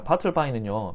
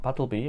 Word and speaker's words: Bartleby: 자, 바틀바이는요, 바틀비 뭐 둘 다 발음 가능하겠지만 이코노미스트에서 이런 경영이라든지 기업 트렌드의 기사를 내는 코너입니다.